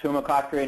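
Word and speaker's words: Tumacácori: Please take it away and help my pronunciation, Jeremy. Thank you, Kevin. That's Tumakakori National Historical Park.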